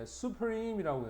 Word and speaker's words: supreme: 그 다음 열 번째 보면 이제 supreme이라고 해서 최상의 강세는 여 가운데 있다.